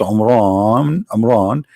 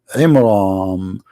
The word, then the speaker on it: Imran: the name wrong because it's not Amran, it is Imram, which means the last letter is M, not N.